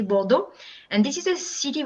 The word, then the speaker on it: Bordeaux: living near to is bordeaux not borders it has an x at the end but you know with the french accent we say bordeaux and this is a